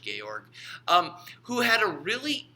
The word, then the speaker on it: Georg: sociologist named Georg Simmel he was German so you pronounced Georg Georg um who had a